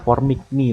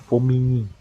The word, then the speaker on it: Formigny: Ya, namanya tuh Formigny. Nggak di ini Formigny tapi bacanya Formigny.